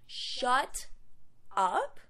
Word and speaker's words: shut up: So we could say shut up or shut up, making the T of shut into a D because it does come between two vowels and it all blends together into shut up.